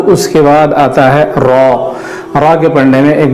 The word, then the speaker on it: را: وہ را اس کو موٹی آواز میں پڑھنا ہوتا ہے تو اس کو نارمل انداز میں پڑھتے ہیں را کر کے, تو یہ جو ہے غلط ہوگا. صحیح تلفظ ہے را.